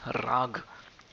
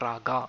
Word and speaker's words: raag: music uh notion of the raag it is not raga as some people end up pronouncing rag similarly gurjar's and